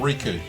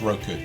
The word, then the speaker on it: Roku: also watch it on riku it makes fun every time attention i thought i had said it right this whole time yeah it's roku i've never built roko